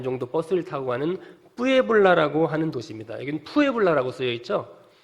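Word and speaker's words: Puebla: 정도 버스를 타고 가는 푸에블라라고 하는 도시입니다 스페인어에서는 피를 쌍비읍 발음하기 때문에 무에블라라고 발음하면 좋습니다 이곳에서 무엇을 하는가 신학교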